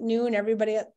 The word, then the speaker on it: Nuun: I pronounce it noon. Somebody said noon. And I was like, ooh, I don't even know if I can make that word noon, the W. But yeah, NUUN.